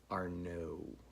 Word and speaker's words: Arnauld: So thanks for that, whether Craig, Jake, Arnaud, and for those of you who aren't French Canadian, the D is silent. Arnaud.